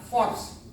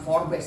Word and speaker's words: Forbes: Nah, ini menurut majalah Forbes, bacanya bukan Forbes, teman-teman. Dulu saya bacanya Forbes. Saya di Oceno itu Forbes, itu kampungan banget Forbes.